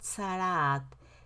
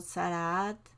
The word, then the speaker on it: tzaraat: de los afectados por sarah se escribe tz tz doble a czr doble a y te sana casi no se suena casi no suenan todas las letras pero así se escribe para que muy bien